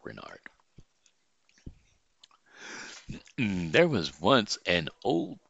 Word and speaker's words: Reynard: Renyard. Renyard. Renard. We'll go with Renard. It's spelled R-E-Y and A-R-D, so we'll just call it Renard.